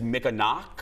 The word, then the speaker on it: Mikinaak: the title The it's the Mick and I pronounced it wrong on the t's but it's Mick a knock yes a Native American Elder Tom um he